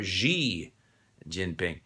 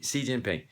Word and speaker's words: Xi Jinping: so that's why uh when we see xi jinping for example the president of china most people can't really connect the x i with c kind of unfortunate uh-huh anyway and and of course i'll get into this later people want to put their sound everywhere they call him g jinping it's c xi jinping so in many ways